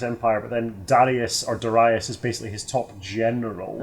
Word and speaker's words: Darius: apparently I've been reading recently it should be pronounced daras not Darius ah as in daras for football uh apparently